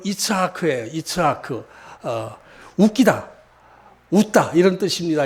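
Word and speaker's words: יצחק: 이삭, 이게 본토 발음하면 이츠하크예요.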